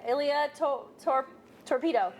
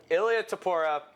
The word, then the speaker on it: Ilya Topuria: How do you say Ilya Torpedo? Nope. I thought you were going to say Topic. No! Ilya Topuria.